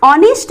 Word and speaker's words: honest: तो कुछ बच्चे कहेंगे कि यहाँ जो यूज होगा वो ए एन का यूज होगा, बिकॉज इसका जो फर्स्ट वर्ड है वो उसका प्रोनाउंसिएशन ओ होता है, ऑनेस्ट।